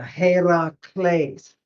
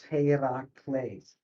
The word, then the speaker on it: Heracles: Yeah, Heracles. And you were very He, good to put the accent exactly where it goes. Heracles.